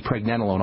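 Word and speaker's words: pregnenolone: bit easier on the body or pregnanolone and that's spelled p r e g NE n o l o n e pregnanolone 100 milligrams uh got to move on U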